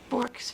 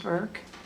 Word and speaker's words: Bourke's: So whether you pronounce an O or U, it's still the same wonderful bird.